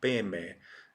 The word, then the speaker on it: padme: of the money mantra so this is like a pemei when it's pronounced pemei that's tibetan rendition of a sanskrit term peme is tibetan for lotus which is padma padma in sanskrit so this could be pronounced correctly in sanskrit abba mani padme you know it's when